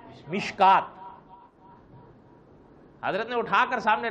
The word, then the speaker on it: مشکات: شدھ بدھ نہ ہو تو مشکات شریف کا تلفظ یا لفظ ایسا لکھا ہوا ہے کہ آدمی اس کو مشکات پڑھنے کے بجائے مشکوت پڑھے. کیا پڑھے؟ حالانکہ اس کا صحیح تلفظ کیا ہے؟ مشکات.